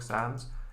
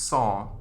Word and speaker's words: Sans: the fonts like comic Sands Ms but it's actually pronounced I think I think it's the French word for not so it's song So comic song oh well that's totally